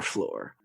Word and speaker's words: Flore: That's lore with an F at the beginning. So it sounds like floor, but it's not the floor you're thinking because it's our floor.